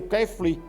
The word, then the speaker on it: kefir: E não se esqueça, o kefir. Essa pronúncia. Kefir. Soletra aí, por favor. K-E-F-I-R. Kefir. Kefir.